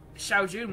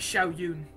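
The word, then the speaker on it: Shao Jun: I used to pronounce it Xiao Yun. Now I like stumble across my old videos, and I listen to myself say Xiao Yun, and it bugs me.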